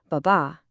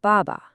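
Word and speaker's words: 爸爸: So you wouldn't say baba, you'd say baba. The emphasis is on the first one.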